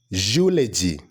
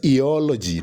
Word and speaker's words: eulogy: The correct pronunciation is eulogy. Eulogy. Not eology, not eology.